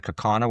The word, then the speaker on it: Kaukauna: I didn't realize until this week I was mispronouncing Kaukauna. It's in Kaukauna, which is outside of Appleton, Wisconsin.